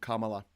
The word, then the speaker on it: Kamala: than yesterday was Halloween Harris herself pronounces her own name Kamala I'm just reading that yeah I mean I've seen it written as as a comma like at the end of you know middle of a sentence comma with LA written after it so that's how